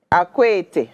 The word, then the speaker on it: Akwete: Is that Akwete or Akoche? I don't know how to pronounce it. Akwete, okay, Akwete cloth.